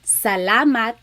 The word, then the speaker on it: salamat: So let's practice saying salamat, salamat, salamat. It's not salamat and it's not salamat. It's really just like in the middle. It's flat. Salamat.